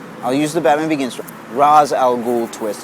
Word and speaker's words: Ra's al Ghul: use the Batman Begins Roz al Ghul twist it's properly pronounced racial ghoul because there's a micron over the air when it's written in text I'm a stickler for